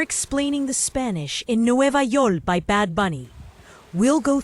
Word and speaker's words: Yol: Let's focus on why York becomes Yol. In Spanish, words don't end with a K sound, so that final K can get dropped for easier pronunciation.